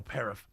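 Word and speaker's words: paraph: First of all, should I spell it or do people get mad? Autumn gets mad if I don't. No, paraff.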